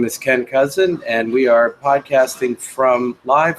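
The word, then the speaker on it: Kousen: It's cousin like the relative.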